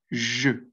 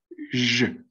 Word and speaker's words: je: Porque es que, como les comentaba, el pronombre je, por ejemplo, se pronuncia con esta E, con una E cerrada, porque es je, así, je.